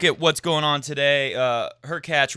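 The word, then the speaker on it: Hurkacz: what's going on today her catch rhymes with latch who's actually on our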